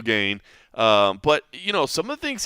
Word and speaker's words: Gane: Still not saying his name right. Still not going so far as to actually pronounce his name properly. I think he has moved on from Cyril to I think now it's more Cyril. But it is still Gane.